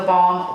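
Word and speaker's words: theBalm: I know it's on the Balm website, and the Balm is spelled the B-A-L-M, like lip balm.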